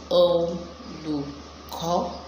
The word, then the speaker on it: Olùkọ́: Let me help you pronounce that. Olùkọ́. Alright, so let's say it the right way. Olùkọ́. Let's go local. Olùkọ́. But if you want to go classical, you say Olùkọ́.